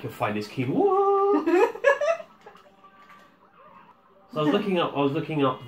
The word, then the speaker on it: quinoa: Plus, you sound like a dick when you ask for quinoa. Because you would, I would, and I imagine anyone else would always put the emphasis on the wah. I would like your finest quinoa.